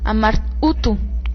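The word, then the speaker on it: Amar-Utu: el idioma acadio este este nombre marduk es un idioma acadio que en el acadio se pronuncia amar utu s así sería como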